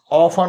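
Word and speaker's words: often: य H silent रहेगा ऑन होता है हम लोग ऑफ्टन नहीं पढ़ेंगे इसको ओ एफ टी एन नहीं पढ़ेंगे ऑन पढ़ेंगे ठीक है तो टी साइलेंट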